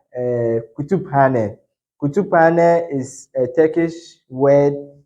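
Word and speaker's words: Kütüphane: So this is Kutuphane, Kutuphane, Kutuphane, not Kutufane. All right. So Turkish language, you pronounce every letter, but in English, these two letters, when they come together, it has different sound.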